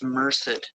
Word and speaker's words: Merced: Yeah, I went through that uh Merced kept saying mer. I didn't know how to pronounce it. It's Merced County Sheriff's Office.